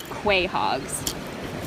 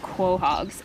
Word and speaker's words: quahog: look at these big i used to call them quahogs but they're not actually called quay hogs i can't pronounce how they're called somebody corrected me a long time ago but i've been calling them quay hogs my entire life i think they're called quahogs anyway they are very heavy